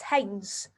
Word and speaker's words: Heinz: It is the fabulous Hines. Is that how you say it? Yes, Hines. Heinz, yes. Hines, lovely. Like the ketchup.